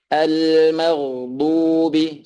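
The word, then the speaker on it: المغضوب: Al-maghdubi, cara pengucapannya atau makhrajnya yaitu di pinggir-pinggir lidah yang bertabrakan dengan gigi geraham atas, kanan ataupun yang kiri, ya.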